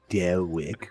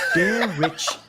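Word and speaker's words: Derich: Why do you keep saying Dare Rick? Mayara, you keep saying my name wrong again. Dare Rich with rich, not Rick. Why do you keep saying Dare Rick?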